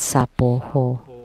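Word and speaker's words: svāhā: The Tibetan would chant Soha. Soha. How do you chant Soha? In the Mahakaruna Dharani, we would chant Sapoho. From Soha becomes Sapoho.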